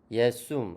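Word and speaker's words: Iesum: at in 예숨. 아까 J가 I라고 했죠. 다시 처음부터 읽어보겠습니다. 시작. at in 예숨 크리스툼 필리움 에이우스 우니쿰 도미눔 노스트룸. 네. 이게 이제 J가 이 발음 나니까 제숨이 아니고 예숨이죠.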